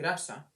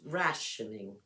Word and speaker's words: rationing: It sounds like the pronunciation is like Russia. No, it's rationing. Well, to me, it sounds like Russia, but Sarah keeps correcting me.